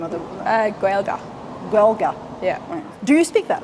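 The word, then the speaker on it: Gaeilge: How do you pronounce the name of the Gaelga. Gaelga.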